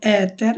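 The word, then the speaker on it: äter: সো এটা উচ্চারণ হবে এতের। এর উপর যখন দুই ডট থাকে তখন এটাকে আমরা বাংলায় অনেকটা বলি যে ওটার মতো উচ্চারণ হবে।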